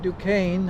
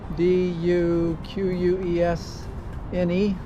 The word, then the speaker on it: Duquesne: The French built Fort Duquesne, I think is how you pronounce that. D u q u e s n e back in the 1750s to defend against the